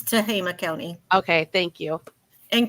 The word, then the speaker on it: Tehama: It's Tehama County.